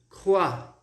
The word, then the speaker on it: crois: O S a gente não vai pronunciar, então... Alors, ici nous allons avoir un S muet, um S mudo, tá?